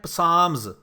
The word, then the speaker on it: Psalms: جو زبور ہے, یہ جو زبور کی کتاب ہے اس کو کہتے ہیں پسامز, PSALMS, پسامز.